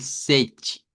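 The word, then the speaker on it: sete: El sechi, que suene la CH. Sechi. Si se los pongo acá, mire, dígalo como C y agregue la CH, sechi.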